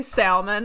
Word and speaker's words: salmon: someone say salmon, I'm like, stop being obtuse. Like, just Obtuse. quit. It's not, you don't pronounce the L.